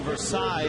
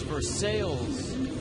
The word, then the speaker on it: Versailles: University in his hometown the way it's spelled you would think it's pronounced Versailles Ohio but I just got